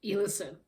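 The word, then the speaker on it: Elison: And so the next book that I read was Number One Fan by Meg Ellison. I would pronounce it Ellison, but I think it's pronounced Ellison.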